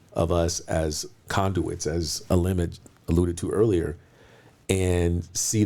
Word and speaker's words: Aalim: Yes, obviously you mentioned LinkedIn, Aalim. Think about a tree branch, Aalim, if you want to just pronounce it correctly.